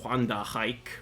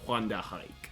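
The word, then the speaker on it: Wandenreich: But I believe it is pronounced Wanda hike.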